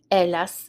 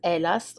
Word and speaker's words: hélas: matin-là, on that morning, hélas, so the H is silent, hélas, or malheureusement, it means